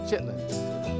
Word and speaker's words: chitterlings: gravy smothered chicken and chitterlings is pronounced chitlins chitlins and gravy cornbread